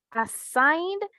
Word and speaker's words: assigned: assigned, ajá, assigned es assigned. Y como termina en vocal, ¿verdad? Tú pronuncias solo la D. Assigned. Assigned. D. Solo el sonido de la D.